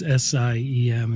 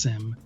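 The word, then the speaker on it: SIEM: It's SIM. It's pronounced SIM, like a SIM card in a phone.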